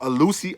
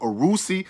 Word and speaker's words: Alusi: It's called Alusi, or it's called Arusi, or it's called Agabara. You see what I'm saying? It's either or. You can pronounce it either way, but I preferably just call it Alusi.